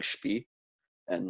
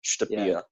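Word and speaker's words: shtëpia: say a sentence, like you can probably get away with saying shpi, and no one's gonna be like, hey, excuse me, you said the wrong word. You know what I mean? Like, how do you say the house? The house? Shtpia. Shpia. Yeah. But same comment though. Like I've said shpia before and people knew what I was talking about.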